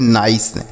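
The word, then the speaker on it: nice: तो ये हो गया नाइस। ठीक है? इस तरीके से सही उच्चारण हो गया।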